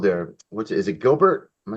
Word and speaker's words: Gilbert: this center field there what's it is it Gilbert am I saying it right yeah Gilbert the uh the left-handed left Lefty swinger he's